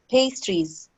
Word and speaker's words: pastries: butter, coffee or tea, and sometimes pastries, Pastries.